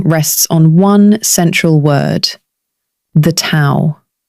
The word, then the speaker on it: Tao: Everything in Lasu's teaching rests on one central word, the Tao, pronounced dao.